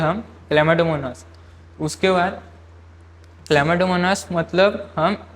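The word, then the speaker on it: Chlamydomonas: तो आप ये वर्ड देखिए, आपको लग रहा होंगे कि ये क्या है, ये क्लैमिडोमोनास है, इसको प्रोनाउंस करते हैं हम क्लैमिडोमोनास।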